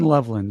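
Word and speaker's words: Loveland: Colston Lovelin.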